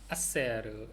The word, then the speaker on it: hacer: hacer H 묵음이고요.